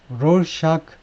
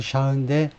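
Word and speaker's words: Rorschach: 잘 아시는 분들은 아 롤이 아닌데 롤은 영어식 발음이고 우리말로는 로샤 검사 또는 검사라고는데 샤가이 사람이 원래 스위스 사람 독일식으로 읽자면 샤데 롤은 영어식 발음입니다 하여튼 롤 비슷한 거였다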